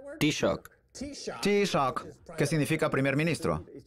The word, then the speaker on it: Taoiseach: Enda Kenny es el actual Taoiseach, o jefe de gobierno, o ¿cómo se pronuncia en irlandés? Taoiseach.